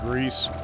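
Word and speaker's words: Gris: game and uh yeah I do believe it's pronounced Greece not everybody um there was some confusion on the way that you pronounce the name I do believe it's Greece which it's French and just means gray had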